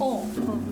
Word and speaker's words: Om: Om contains 3 syllables, Ah, Oo, and So the Ah comes